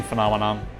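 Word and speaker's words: fenomen: It does mean phenomenon. Phenomen. That's weird. There's an extra syllable in the English word.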